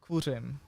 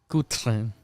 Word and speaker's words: Kuřim: Pronounce it slowly. Kuřim. Kutrem.